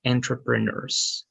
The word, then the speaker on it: entrepreneurs: all right and there you go and you pronounce it like entrepreneurs Okay so e-n-t-r-e-p-r-e-n-e-u-r-s okay thank you good there